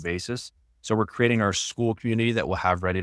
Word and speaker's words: Skool: And I can't remember if we talked about this off camera, but it's a platform called School, and it's spelled SKOOL.